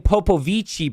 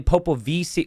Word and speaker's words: Popovici: Because I was saying Popovici before, but it's apparently Popovici.